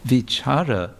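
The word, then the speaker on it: विचार: go but also V vichara with a long a would mean to reflect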